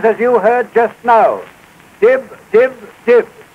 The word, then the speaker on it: DYB: you heard just now di di di it is spelled dyb D stands for do y stand for your b s for best do your best and when a pack